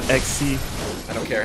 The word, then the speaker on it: Xyz: didn't mess around with xyz summons and synchro summons on any of that uh dan it's not xyz it's pronounced xc i don't care how